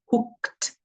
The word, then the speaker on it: hooked: There's the ed, hooked, and then there's that, but the hooked we're pronouncing as a t, hooked, and then raised, raised, id, land.